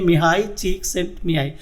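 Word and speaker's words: Mihály Csíkszentmihályi: दोस्तों एक Hungarian American psychologist हैं जिनका नाम है मिहाई चीक्सिंटमिहाई। जी हाँ, जो आप स्क्रीन पे नाम देख रहे हैं उसका प्रोनाउंसिएशन यही है, मिहाई चीक्सिंटमिहाई।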